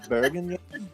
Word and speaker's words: bourguignon: It's technically Bergen, but I don't bother pronouncing it that way ever.